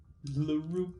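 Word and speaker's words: L'Roup: LaRoup. Okay. L apostrophe R O U P. Alright. Laroup would be the human way of pronouncing it, which Theodore explains afterward.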